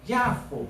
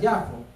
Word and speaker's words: Jafo: Jope se conoce también como Jafo, así lo pronuncian los judíos hoy en día, Jafo, y es una ciudad